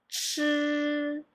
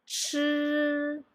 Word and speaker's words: 吃: Okay, and then the second one will be 吃吃, and then the third one 诗诗.